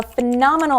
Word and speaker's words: phenomenal: It's a phenomenal opportunity. Phenomenal. Intonation is really important here. Word stress, phenomenal.